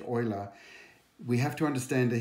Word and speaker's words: Euler: years ago by a man called Leonard not Lula but it's actually pronounced Euler we have to understand a thing he see